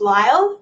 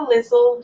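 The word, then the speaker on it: Lisle: had a last name my maiden name is lyle but it's spelled l-i-s-l-e and every school assembly it was lizzle lizzle so now i have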